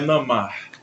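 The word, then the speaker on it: नमः: Na verdade a a pronúncia aqui é namar. Namar. Esse esses dois pontinhos aqui são anosvara.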